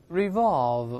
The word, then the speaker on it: revolve: 我们再读一下这个词，注意中间字母 v 是上牙触下唇发 v，最后这个动作还是停留在 v 这个动作。